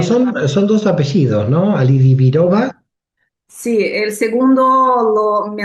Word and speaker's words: Alidibirova: Ali Alioba. Ali. Bueno, lo pronuncia ella. Bueno, son son dos apellidos, ¿no? Alidioba, sí.